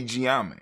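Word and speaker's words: Gye Nyame: So we got Gye-Nyame, or some people say Gye-Nyame, or Gye-Nyame. You know what I'm saying? We say Gye-Nyame, right?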